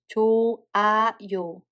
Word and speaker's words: 좋아요: So in this case, we don't pronounce H. So we just read it as 조, 아, 요.